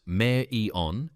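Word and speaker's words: Marion: Andre Vulov served his sentence at the federal penitentiary in Marian pronounced Mayor Eon Illinois pronounced Illinois.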